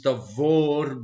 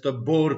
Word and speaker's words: Tabor: In in Hebrew the word is tavor because bet and vet is the same letter. People who are not Hebrew speakers tend to pronounce it as tabor because uh we don't know how to read the letter vet.